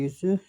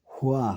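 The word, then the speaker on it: هُوَ: তেলাওয়াত হাদিস মোতাবেক কিন্তু অনেকে বলে কুল হু আল্লাহু আহাদ এটি হচ্ছে বলছে হু বলে পাঠ করল সেই কোরআনের উচ্চারণে ভুল করল শব্দের অর্থ হচ্ছে তার আল্লাহ আর কুল হুয়া হুয়া হলে হবে তিনি আল্লাহ আপনি সারা পৃথিবীর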